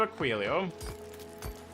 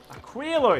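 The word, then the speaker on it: Aquilo: Yeah, we can teleport to Aquoio or Aquillo. Aquillo. Aquillo is how it's supposed to be pronounced.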